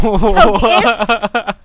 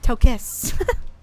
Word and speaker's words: Tokos: Eat legs, Tokus. It's Tokos. T-O-K-O-S. But pronounced Tokis.